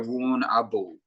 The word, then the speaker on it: Warrnambool: We normally don't use the AM of the word, like the letters. So it's just you go Warrnambool. So you just go Warrnambool. If you phonetically sound it out, it sounds like Warrnambool. But yeah, it's like Melbourne rather than Melbourne.